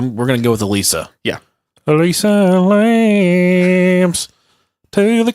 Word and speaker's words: Elisa: We're gonna go with Elisa. Yeah. Elisa Lam's to the classroom. You guys listen to country music? That's Elisa Lies, isn't it? Alyssa Lies. Yeah. Alyssa Lies. Yeah, We're talking about Elisa.